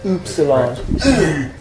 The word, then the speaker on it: Upsilon: Bit of a ooh to it. Which Uber is a German? I'm a goofy Uber. That's yes. A box, actually. Everybody say, ooh. Ooh. Oopsilon. Ooh. Oopsilon.